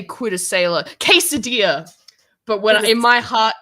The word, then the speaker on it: quesadilla: Quesadilla. But in my heart, it's Quidasela.